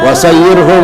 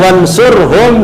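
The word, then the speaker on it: وانصرهم: Mestinya yang benar adalah wansurhum, dan tolong kan, ya Allah kuatkanlah umat Islam gitu kan, wansurhum, dan berikan pertolongan kepada mereka, ala mu'anidid din, mu'anid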